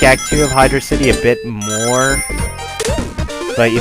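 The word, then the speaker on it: Hydrocity: that much more time on the land in Hydro City 2 than you do in Hydro City 1 and yes I am calling it Hydro city that is how it is actually pronounced it is not pronounced hydrosity like some people claim it is pronounced or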